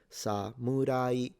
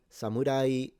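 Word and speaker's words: 侍: falling pitch ninja ninja instead samurai samurai is a rising pitch samurai same with yari the spear or yumi the bow.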